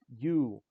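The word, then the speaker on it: Ю: Pronunciation is U. The character it kind of looks like an I and then a dash and then an O, but it's not I dash O, it is U.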